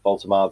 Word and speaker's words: Woltemade: Yes, Pete, Woltemade, the pronunciation back on point.